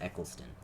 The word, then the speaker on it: Eccleston: because I always forget I always want to say Echo like like a sequelson and it's it's just not it's Eccleston and I will say it